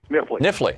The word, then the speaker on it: Knifley: Bill in Knifley, Kentucky, is that how it's said, Bill? Nifley.